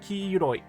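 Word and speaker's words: 黄色い: Also, yes, that means that when you use ki-iro as an adjective, it's going to be pronounced ki-iroi.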